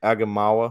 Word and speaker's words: Aigamaua: left with one uh Ben agamemawa I think that's how you say it yes the tight ends